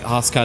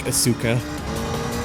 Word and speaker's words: Asuka: I also realized I have to say like Asuka, not like Asuka. Yeah. That's a pretty sure with like a lot of with like Japanese names, like emphasis goes in the first syllable.